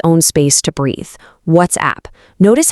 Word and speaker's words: WhatsApp: But we actually need two very distinct beats here. It's WhatsApp. You really want to hit that T and S clearly and then give the app its own space to breathe.